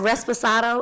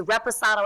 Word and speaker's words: Reposado: everyone says excuse me can I have resposado it's Reposado everybody Reposado oh my God